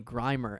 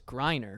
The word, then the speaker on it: Griner: I was talking with somebody about Brittany uh Griner and I was like she's like the most well-known WNBA player and I kept calling her Brittany grimer and then he's like you know it's Griner right and I was like that's how little